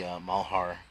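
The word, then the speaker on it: Malheur: that was out there covering the mahara that's how you pronounce it doctor Mao Heart incident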